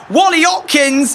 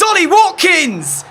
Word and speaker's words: Ollie Watkins: said his name wrong I was about to say Wally Hopkins it's Ollie Watkins and you know all